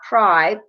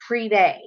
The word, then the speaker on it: Privé: Like, and I know I said it tonight, the Prive box is not Prive, it's Privé.